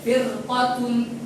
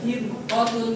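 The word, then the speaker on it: فرقة: Maka bacanya bukan firu eh firqatun bukan firqotun bukan tipis tapi tebal.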